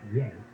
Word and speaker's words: Ye: pronounced well in this particular instance it is pronounced yay yeah no see I think of it as